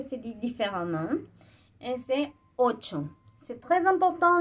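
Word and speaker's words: ocho: Et c'est 8. C'est très important, le CH, ça se prononce pas comme en français. C'est comme si on écrit le CH, mais avant on met un T. D'accord? Alors, 8.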